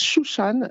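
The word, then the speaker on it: שושנה: fois dans l'habit alors le lys se prononcent chouchane et c'est important de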